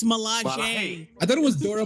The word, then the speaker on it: Milaje: You know it's pronounced Stalaji. It's Milaje.